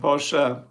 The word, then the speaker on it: Porsche: we have to say Porsche by the way if you pronounce it German Audi not Audi Audi Mercedes not Mercedes Mercedes and Porche don't forget the a at the end Porche what's a V3 I